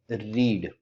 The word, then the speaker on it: read: इसी तरीके से एक और वर्ब होता है रीड। ठीक। रीड, रेड और रेड। अब देखिए याद रखिएगा इन दोनों को स्पेलिंग तो सेम होती है इसी के जैसी,